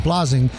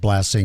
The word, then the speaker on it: Blasing: My family pronounces my last name blasing and that's how I pronounce it through my